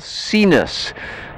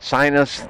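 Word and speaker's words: Sinus: up on the pipistrelle seen us some people call it sign us that's just the way we pronounce it but they call it seen us this is a motor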